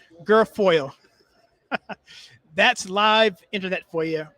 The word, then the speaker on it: Guilfoyle: don jr's girlfriend kimberly how you pronounce your name guilfoyle i sound terrible but i never actually have pronounced her name how you passed her name gorfor girlfriend girlfriend girlfoil oh okay girl foil that's live internet for